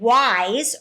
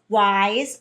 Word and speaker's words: wise: And then when we get to the end, what's that last sound you hear in wise? You hear a Z.